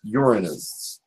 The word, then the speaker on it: Uranus: And it's, yes, I'm being told that it's pronounced Uranus. That made me laugh. Psychically, I was told it's spoken Uranus.